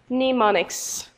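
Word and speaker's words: mnemonics: and finally pneumonics pneumonics take care because the m in the beginning is a silent letter so you have to say pneumonics and pneumonics means you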